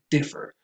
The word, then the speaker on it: differ: Differ. We instinctively might want to say defer because we have, I don't even know why, but for the most part, the stress goes on differ.